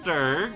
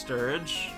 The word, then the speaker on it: Sturg: Yeah, so that was Sturg, and that was Sturg. Sometime pronounced Sturge. I think I'm the only one that uses a hard G.